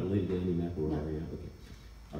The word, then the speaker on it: McElroy: That's the way you pronounce it, right? McElroy?